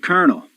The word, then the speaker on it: colonel: I mean, there's no R in the word colonel, yet it's pronounced with an R, which tells you Rs and L's are interchangeable.